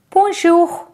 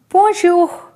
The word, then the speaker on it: bonjour: after and learn it first example is poor shoe for shoe all right this example